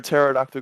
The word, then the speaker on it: pterodactyl: desk number 32 pterodactyl why can't you hear a pterodactyl go to the bathroom because the p is silent versus number 28.